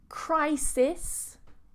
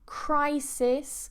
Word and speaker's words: crisis: However, in English is crisis with a diphthong.